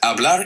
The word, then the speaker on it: hablar: Hablar is a great verb to practice. First, let's say it together slowly. Hablar. The H is silent, so it sounds like hablar, not hablar.